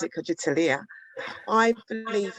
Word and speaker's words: Kujichagulia: I think for me, and I pronounce it KUJICHAGULIA, I believe it's about drive and progression.